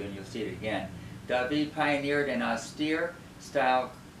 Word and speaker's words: David: It looks like David, but it's pronounced David.